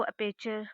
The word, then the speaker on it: aperture: Okay, सो इसका मतलब होता है, इसको अपेचर करके प्रोनाउंस करते हैं हम.